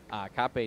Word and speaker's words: Kape: Mokaev versus Kape, I believe it is. Cape, I don't know, honestly. No, it's Kape.